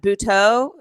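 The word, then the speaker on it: Butoh: mentioned um and i'm i may be mispronouncing this that bhuto is a part of that am i my am i mispronouncing that you are not mr that is exactly how it's pronounced okay um yeah so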